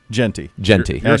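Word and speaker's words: Jeanty: How do you pronounce? Is it Gianti? Genty. Ashton Genty.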